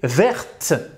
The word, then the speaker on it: verte: Donc, au masculin, on va écrire le T, mais on ne va pas le prononcer. Et au féminin, on va rajouter un E, et là, le T, on va le prononcer.